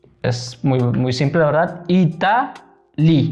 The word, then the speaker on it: Italie: Italie. La E no se pronuncia. Italie.